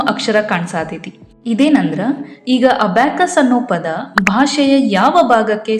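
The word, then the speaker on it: abaci: ಮಾಡಬೇಕು ಅನ್ನೋದನ್ನ ಇಲ್ಲಿ ತೋರಿಸಿಕೊಟ್ಟಾರ ಅಬ್ಯಾಕಸ್ ಅನ್ನ ನಾವು ಅಬ್ಯಾಕೈ ಅಂತ ಕರಿಬೇಕು ನಂತರ ಇಲ್ಲಿ ನಮಗ ಅಬ್ಯಾಕಸ್ ದು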